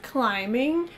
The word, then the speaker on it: climbing: She loves climbing. Обратите внимание на чтение. Climbing. B не произносится.